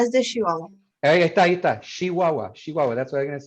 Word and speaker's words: Chihuahua: Chihuahua. That's what I'm going to say. So it comes out, it's spelled that this phoneme right here, this phoneme, ch, but it comes out sh.